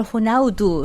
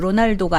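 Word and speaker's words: Ronaldo: 그래서 이 포르투갈어로는 제가 알기로 L 발음을 호나우두, 로날도가 아니고 호나우두.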